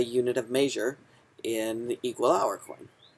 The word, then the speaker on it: =hour.coin: So this is equal hour coin. That's how I kind of pronounce it, and I capitalized the letter O because it's hour coin.